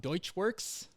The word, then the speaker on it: Deutschwurx: I got Scott Sayers on the podcast today, owner of the awesome tuning shop Deutschwurx.